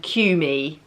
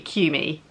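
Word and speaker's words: Qmee: are i say and cumie i hope i pronounced that right it's q m double e q me if i've said it wrong i'm really sorry and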